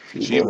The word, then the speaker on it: Cheba: Chiba, Chiba Hut. Chiba, like goat, Chiba. Who knows? It's spelled as CHEBA.